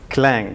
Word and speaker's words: Clang: three dot eight and some people pronounce it as si Lang it is actually clang so I've included the